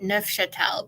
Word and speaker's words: Neufchâtel: But I say Neufchâtel because I think it's a French word, and that's how it's pronounced in French.